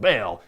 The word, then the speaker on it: Baal: that would suck yes I pronounce it bail and uh Paul I think a Christian belt Batman I don't think of a basketball I just pronouncing the way I do they're gonna have to